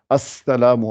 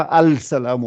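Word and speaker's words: السلام: Quand vous mettez l'article, vous ne dites pas le Al, vous doublez juste la lettre, comme quand on dit Assalamu alaykum, je double le sin, je mets l'article devant.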